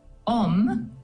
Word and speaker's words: Om: consider first of all om uh is a very powerful Sanskrit sound or word and it has three syllables traditionally the Au U and the m and these vibrate in